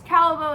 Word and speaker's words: Callebaut: can have it written because calbo is French so it is spelled differently than what it sounds and the little reason